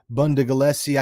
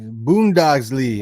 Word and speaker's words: Bundesliga: But it looks like there's some Topps Chrome, Bundagalesi. I can't pronounce it. You know how to pronounce that? Bundesliga.